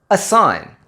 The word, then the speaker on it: assign: Words like design, assign and foreign.